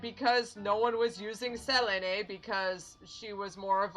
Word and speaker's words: Selene: And then we have Selene. Or Selene? Selene? In Japanese it's Selene, so we're going with Selene.